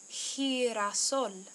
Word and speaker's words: girasol: Sí, es girasol. Girasol uses the soft G, he.